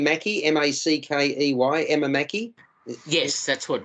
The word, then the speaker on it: Mackey: writer and poet a role Phil do you pronounce her name Mackie m-a-c-k-e-y Emma Mackey yes that's what Rob said yeah